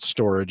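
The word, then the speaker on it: Storj: like store JSTOR J they pronounce it storage it's really kind of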